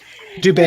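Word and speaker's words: Dube: Was it Elder, is it pronounced Dubé? Who talked about... Oh, he was great. Oh, you're thinking of the Doobie Brother. Yeah. Is that how you say his name? Dubé, yeah, that's how they said it, yeah.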